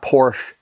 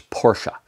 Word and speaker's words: Porsche: It's not Porsche, it's Porsche. That's the proper pronunciation.